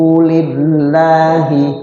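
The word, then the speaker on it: لله: Wajhahu lillahi. Wajhahu lillahi. Ayo. Wajhahu lillahi. Lillahi. Lafzul jalalah. Lafzul Allah dibaca ti tipis. Karena lafaz Allah ketemu huruf yang sebelumnya berbaris kasrah. Lillahi enggak boleh. Lillah. Lillah ya.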